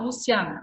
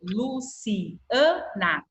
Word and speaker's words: Luciana: Eu não falo Luciana, eu falo Luciana. Ó, o A fica separado.